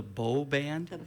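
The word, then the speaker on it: Beaux Band: Before I let you go, I want to make sure I get the pronunciation correct for next week. It is the Beau Band?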